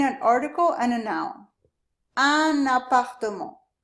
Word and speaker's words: un appartement: Un appartement. Usually this un has a nasal sound, but when we connect it to this A, we actually do pronounce the N.